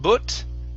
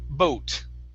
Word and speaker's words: boat: good nice job uh next up boat okay instead of butt okay it's an o sound bow boat boat boat good okay here instead